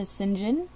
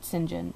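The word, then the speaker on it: St. John: is patricia sinjin and i know it says patricia saint john but there was a book that showed um that she had authored and it showed how to pronounce her last name and it said sinjin so that's what i'm going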